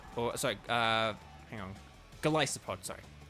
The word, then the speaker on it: Golisopod: hang on golisopod sorry I always have to think twice about golisopods pronunciation because it's like Goliath and then whatever kind of pod it is um but um but yeah it's kind of like Goliath and so it's galai support um but there we